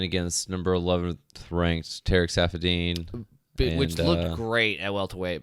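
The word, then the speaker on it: Saffiedine: Rafael dos Anjos versus Tarek Safadini. That was Tarek Safadine. There we go, Safadine.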